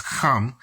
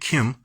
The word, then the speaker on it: Ham: It's not pronounced Ham, but that's how we do it in the West, but it's Kam or Kim. That's what we get Kim.